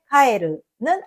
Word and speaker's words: 帰る: prononcé plus haut, et dans le mot かえる , qui signifie « grenouille », le qui suit est prononcé plus haut.